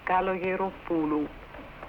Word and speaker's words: Kalogeropoulou: In a 1957 interview in Chicago with Norman Ross, Callas spoke of her early years and gave a lesson in pronouncing her name. Ready? Kalogeropoulou.